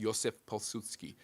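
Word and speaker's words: Józef Piłsudski: It's Joseph Pilsudski for those of you Pilsudski, but it's pronounced Józef Pilsudski.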